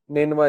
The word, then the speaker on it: نینوا: نینوا اس کا تلفظ ہے NINEVEH.